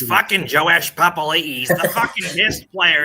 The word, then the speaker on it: Papali'i: It's fucking Joash Papali'i.